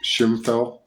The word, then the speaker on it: Ximfel: shimel which is zimel x i m f l pronounced shimel the Chinese pronounce it shimel so I know this